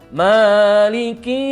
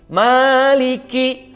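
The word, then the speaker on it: مالك: Li dan huruf q Maliki Nah itu empat huruf apabila kita membacanya dengan bacaan seperti ini maka itu bacaan yang keliru karena seharusnya Maknya 2 harokat menjadi 5 harokat Nah itu tidak boleh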